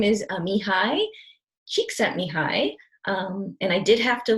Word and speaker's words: Csikszentmihalyi: do is so his name is Amy hi Csikszentmihalyi and I did have to look up how to pronounce that so that is the spelling of